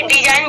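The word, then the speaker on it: design: आपको जी आया है तो जी को हम साइलेंट करेंगे और इसको हम क्या बोलेंगे डिजाइन बोलेंगे उसके बाद फोड़ देंगे इसको भी हम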